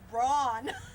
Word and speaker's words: Braun: And after I got married, I said, it's not Brown, it's Braun. It's Braun. That's the Americanization of it.